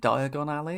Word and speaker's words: Diagon Alley: Diagon Al I think I was calling it Diagon Alley in the in the the first game need to pronounce it closer to diagonally I suppose don't I for the joke to work as you've never traveled